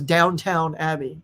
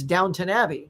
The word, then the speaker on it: Downton Abbey: you look at it everybody says downtown abbey but it's downton abbey so if somebody says downtown abbey you can tell they've never seen the show i've never seen the